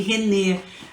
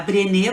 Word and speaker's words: Brené: Eu pronunciei errado no início da live, né? Eu falei René, mas eu pedi desculpas. É a Brené Brown, isso mesmo.